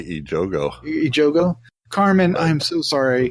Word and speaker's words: Ejogo: The cast includes Carmen Ejogo.